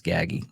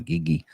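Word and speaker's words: Gaggi: a little gaggy gaggy it's gaggy not giggy gaggy uh began develop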